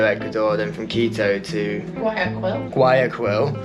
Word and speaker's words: Guayaquil: Flew from Iquitos to Lima, Peru, then to Quito, Ecuador, then from Quito to Guayaquil. Actually, you pronounce it differently. Guayaquil. We'll go with Guayaquil.